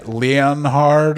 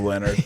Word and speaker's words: Leonhard: And his name's Leonard, but I was looking up if it's pronounced Leonhard or something like that, but it wasn't. It was just Leonard.